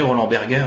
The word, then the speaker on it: Roland Berger: travaillez chez Roland Berger, Roland Berger, si on prend si on le prononce ouais, à l'allemand, du fondateur de ce cabinet de conseil international.